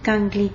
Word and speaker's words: Kangli: Kangli, comme ça se prononce, Kangli.